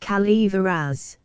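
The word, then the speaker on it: Calaveras: French the notorious Jumping Frog of cavas County pronounced Calver as in compliance with the request of a friend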